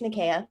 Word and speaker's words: Nikea: I'm going to say your name, Nikea. Is that right? Or did I say it wrong? No, you got it right. It's Nikea.